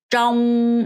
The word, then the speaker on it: trong: 자, 그다음에 trong 이렇게 담으셔야 돼요. trong r 발음해서 trong 뭐뭐 동안에 어디 안에 뭐뭐 동안에라는 표현이에요.